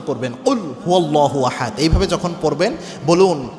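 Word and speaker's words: قُلْ هُوَ ٱللَّهُ أَحَدٌ: জায়গায় পড়তে যেয়ে আমরা কুলহু আল্লাহু আহাদ বলি অর্থাৎ কফ এটা কিন্তু বড় কফ এটাকে আমরা স্বাভাবিক কাপের মত উচ্চারণ করি আপনি কুলহু আল্লাহু আহাদ যখন বলেন এর অর্থ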